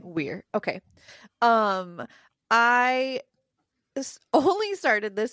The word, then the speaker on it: Weir: Is that how you say his name? Okay. That's how I've been saying his name. Weir.